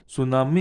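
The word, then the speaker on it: tsunami: सुनामी इज द, टी बच्चों क्या silent है, इसको बच्चों क्या पढ़ते हैं, टू सुनामी नहीं, टी क्या साइलेंट है। सुनामी इज ए हग C wave generated due टू an earthquake on द sea floor.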